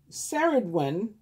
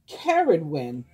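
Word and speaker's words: Ceridwen: for us mythology to the welsh saradwein pronounced um i'm sorry i'm pronouncing it wrong it's pronounced caridwin is a triple goddess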